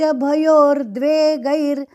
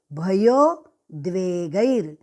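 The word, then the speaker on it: भयोद्वेग: हर्ष मर्ष भयो द्वेग यहां पे बहुत लोग हर्ष शाम्ष भयोर द्वेग भयोर द्वेगैर ऐसा गलती से उच्चार करते हैं और यहां पे भयो भयोर है नहीं भयोर गलत उच्चारण भयो द्वेग यहां पे द्वे बहुत जन बहुत लोग भयोर द्व द्वग द्वै गैर ऐसे बोलते द्वई तो द्वई नहीं है वहां पे द्वे द्वे ग आगे आधा द्वेग हर्षमर्ष भयो द्वेग भयो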